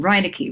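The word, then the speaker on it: Reineke: Stephen, oh my God, I'm going to mispronounce Steve's last name, Reinecke, right? Yeah. Yeah. Really? Did I get that right? I'm absolutely sure. Yes. Okay. You got it.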